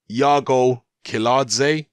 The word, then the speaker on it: Iago Kiladze: seen Joe Joyce's fight from the weekend against Yago kaladze is how you pronounce it Yago kaladze you can find it here on dailymotion it's